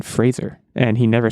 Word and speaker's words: Fraser: I'm generally a Brendan Fraser fan, which, by the way, it is pronounced Fraser. I was watching an interview recently. It's not Brendan Fraser, it's Brendan Fraser.